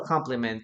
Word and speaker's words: compliment: Yeah, they have the same pronunciation. Compliment. Compliment. Comp. Yeah. It's not like an e, you know.